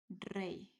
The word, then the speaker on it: rey: in this one, king, this is pronounced like rey, like this, like a normal E. So this is not reg or reg. This is rey, rey.